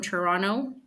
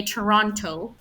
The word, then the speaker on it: Toronto: So we would say Toronto, right? And the rest of Canada says Toronto, but Toronto. Like the word mountain, mountain. So sometimes English speakers can